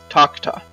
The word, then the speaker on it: Takuta: Takuta Temple. It's the Taco Temple. It would be pronounced more like Takta.